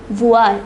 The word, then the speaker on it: voir: It is pronounced voir. It means to see. Voir. Note the pronunciation, it is voir.